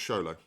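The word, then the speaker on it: Xolo: Zolo. Is that his name? I think it's pronounced Sholo.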